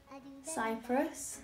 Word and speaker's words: Cypr: Cyprus.